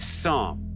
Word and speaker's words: Psalm: Psalm. Lovely silent P at the beginning there.